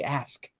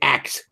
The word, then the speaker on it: ask: The cultural norm now is if you want to be speaking properly, you say ask. You don't say axe.